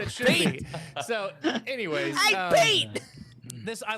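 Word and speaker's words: Piett: Admiral Piet wondered if maybe he had made a mistake because his name is pronounced Pete. That's what it should be. So, anyways, Pete.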